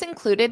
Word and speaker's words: included: Now let's look at that pronunciation of the ED. Included, did. It's did.